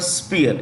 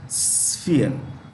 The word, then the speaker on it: sphere: h e r e when you pronounce the word sphere it's not P it's F sphere okay it's not P